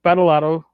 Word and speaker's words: Badolato: invited none other than our own BadMike, Badolato, North Texas, Frog God Games, to be our first guest.